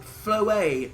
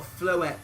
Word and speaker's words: Floette: Apparently it's called Floet, not Floette, because French pronunciation, but whatever.